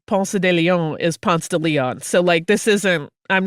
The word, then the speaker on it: Ponce de Leon: city where the name Ponce de Leon is Ponce de Leon.